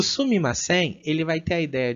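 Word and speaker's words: すみません: Elas falam sumimasen.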